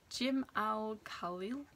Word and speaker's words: Jim Al-Khalili: And the next book is by Jim Al-Khalili, I think is how you say his name, and it is Paradox, the 9 Greatest Enigmas in Physics.